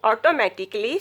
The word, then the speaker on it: automatically: You pronounce this word is automatically. Automatically. You pronouncing automatically. Say this automatically. Why? Automatically has 5 syllables, not 6. The last A isn't pronounced. Artistically, logically, musically, physically, practically, basically, critically, specifically, surgically, geologically, biologically.